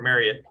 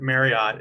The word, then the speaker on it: Marriott: that you know for Marriott and or Marriott I'm supposed to say but Marriott is how every how the whole English rule pronounces it um and Hilton you